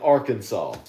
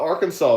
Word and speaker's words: Arkansas: What about Kansas and Arkansas? Kansas. That's spelled right. What about Arkansas? Isn't Arkansas spelled like Kansas?